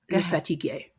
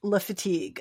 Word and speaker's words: Le Fatigue: Le Fatigue. Okay, it's Le Fatigue. Okay, people. Le Fatigue. It's called Le Fatigue, a rye whiskey cocktail.